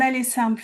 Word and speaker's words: aller simple: In French, you say un aller simple for one-way. Repeat. Notice that e r e r is pronounced e.